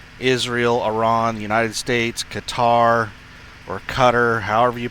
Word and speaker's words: Qatar: It's pronounced like guitar, but with an ER instead of an AR at the end, like gitter.